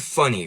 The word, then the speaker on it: funny: Like, the word funny, for example, it's spelled with two N's, but really we usually say that with one N, right?